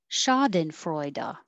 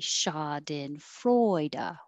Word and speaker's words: schadenfreude: rendezvous rendezvous schadenfreude schadenfreude freu is secondary stress so it gets a little longer but not higher because we can't be too jumpy in english chad and freuda it has to be shoddin freuda one two three four